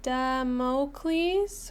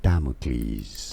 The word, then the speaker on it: Damocles: Damocles. Wait, I need to sound. Damocles. Damocles. Mles. Stress on the first syllable.